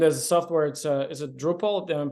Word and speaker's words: Drupal: And as a software, is it Drupal? Am I pronouncing it right?